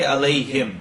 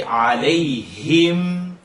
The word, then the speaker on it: عليهم: Try not to say alayhim, him. Don't cut the kasra. If it was alayhi with a kasra, you would say alayhi, not alayhe. So say alayhim, him.